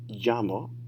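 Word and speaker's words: llamo: so what's your name notice the double l is a sound right rather than la so there's no llamas in spanish right it's got to be jamo and llamas and uh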